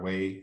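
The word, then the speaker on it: は: Particles are little grammatical words, and in Japanese they help us sort of find our way through the sentence. The first one, pronounced wa, is the topic marker.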